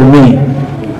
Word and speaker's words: Meij: Dick van der Meij, Meij tulisannya, tapi bacanya orang Belanda itu kan J itu dibaca Y. Dick van der Meij.